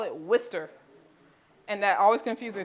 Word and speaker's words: Worcester: call the town spelled w-o-r c-e-s-t-e-r they call it Worcester and that always confused me so this first part that looks like War sister they pronounce it Worcester in Massachusetts so Worcester Shire sauce